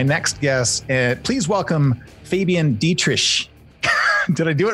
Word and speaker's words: Dittrich: If you were German, you would say Dittrich, but that's really hard. So many syllables. Yeah, usually Americans and British people say Dittrich. Yeah, that's actually, that's what I would have gone with.